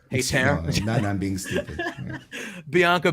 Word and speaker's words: Hayter: No, it's Hayter. Hayter.